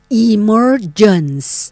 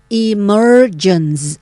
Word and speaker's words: emergence: emergence นะ คะ emergence อัน นี้ ออก เสียง แบบ อ่า อเมริกัน นะ คะ ถ้า เป็น อังกฤษ เรา ก็ ไม่ ต้อง ออก เสียง ตัว R ที่ อยู่ กลาง คำ นะ คะ ก็ จะ เป็น emergence นะ คะ emergence ก็ แปล ว่า